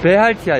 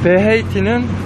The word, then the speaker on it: BRT: 베할티야 여기서는. 근데 브라질 발음은 베헤이티. 네, 환승 무료로 돼요. 버스 타고 베헤이티는, BRT는 무료예요.